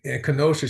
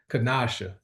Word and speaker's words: Kanasha: We appreciate you for hopping on here and and Kenosha, she corrected me on pronouncing her name. So it's actually Kanasha.